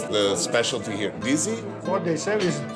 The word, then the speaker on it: dizi: How do you pronounce the specialty here? Dizi? What they serve is called dizi, which actually is the name of the pot.